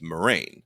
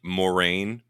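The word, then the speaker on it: Moiraine: pronouncing it okay yeah so I just noticed that this season everyone's calling her Moraine like very straight forward without the eye and I'm like I wonder if they had a discussion they were like we're confusing everyone with the eye let's just drop it let's just go Marine it's easier to say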